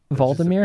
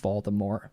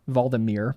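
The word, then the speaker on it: Hvaldimir: monitoring the whale Marine that's not how you spell that vmir has an age big big old silent h at the front Marine mind Facebook uh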